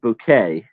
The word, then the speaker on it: Bucket: Yeah, well, and it's pronounced bouquet, you know.